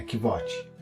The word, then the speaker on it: Kvothe: Meu nome é Kvote, com pronúncia semelhante a Quoth.